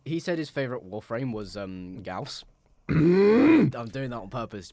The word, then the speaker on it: Gauss: Yeah, you may as well call it Gauze at that point.